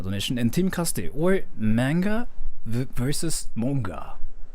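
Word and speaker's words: 漫画: it in japanese like how japanese people say is like manga you don't even like extend the sound like manga manga like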